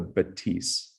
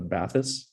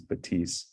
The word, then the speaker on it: Bathys: It's called the Batisse. And I think a lot of North Americans are gonna just read the spelling and think it's the Bathys, it's Bathys, but the French pronunciation is Batisse.